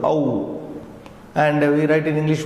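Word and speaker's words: औ: And then we have the longer one of O, Au, like in the word cow, C-O-W, Au.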